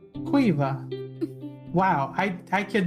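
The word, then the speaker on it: Caoimhe: differently interesting so for anyone listening the name is spelled c a o i m h e cueva wow i i could not see that at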